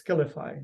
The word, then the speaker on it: Skiilify: But you still pronounce it as Skiilify, right?